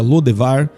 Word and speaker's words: Lodebar: A cidade de Lodebar ficava a leste do rio Jordão e provavelmente também era conhecida como Debir. O nome Lodebar, ou dependendo de sua pronúncia Lodevar, indicava um lugar sem pastagens.